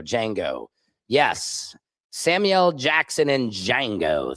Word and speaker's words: Django: You don't pronounce the D in Django. Thank you. Django. Django.